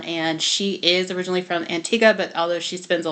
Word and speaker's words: Antigua: learning so it's pronounced Antiga it looks like Antigua but it's pronounced Antiga and Barbuda they are